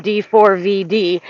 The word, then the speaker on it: D4vd: calling him David because you don't pronounce a four. When you see a four, you pronounce a four." So he's like, "I'm calling him D4 V D."